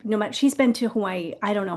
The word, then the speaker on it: Hawaii: Now, the one thing I do not do, W's are pronounced V in Hawaii, so like Hawaii would be Hawaii, but I don't say it like that.